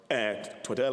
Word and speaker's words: Twaddle: Twaddle, actually, I believe is the right pronunciation. I've been corrected on that by a few people.